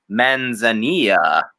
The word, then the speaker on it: Manzanilla: I picked up the Manzanilla. Yes. I think that's even the right pronunciation. Well, yeah. Two L's in Spanish make a Y, and I don't know if that's quesadilla.